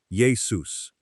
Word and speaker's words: Iesous: And Yeshua becomes Iesous, pronounced something like Yesous.